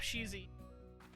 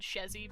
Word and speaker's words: Sheezy: Oh, and you said it right the second time. Bob Sheezy. Awesome. Yeah, I looked really quick and I thought I only saw one E. That's why I said Shezzy, but then I saw